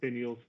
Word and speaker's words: finials: Matt, maybe you'd be better at pronouncing that one for me. But finials, I assume. Yes, it is finials.